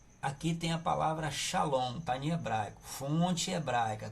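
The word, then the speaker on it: שלום: O significado aqui não é shalom. Shalom é a pronúncia. Esse nome aqui em português, ó, shalom, a gente bota em português para que nós pronunciemos da mesma maneira que se pronuncia em hebraico, tá bom?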